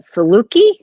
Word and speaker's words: Saluki: I'm probably going to mess this up, but Saluki? That's a perfect pronunciation.